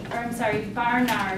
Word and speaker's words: Barnard: Barnard is how you pronounce his name.